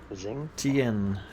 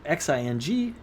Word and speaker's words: Xingtian: Zing Zing. Tian. Zingtian. I believe that's how you say it. Xingtian.